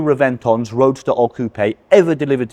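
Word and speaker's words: Reventón: Reventon is a Spanish word, so it should really be pronounced Reventon, a B instead of a V.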